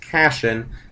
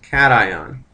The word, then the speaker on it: cation: that as a cation it's not pronounced casan it's pronounced cation and when you have